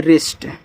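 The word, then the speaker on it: wrist: यह देखो डब्ल्यू के बाद यहां भी आर है तो डब्ल्यू साइलेंट करो। इसको पढ़ते हैं रिस्ट।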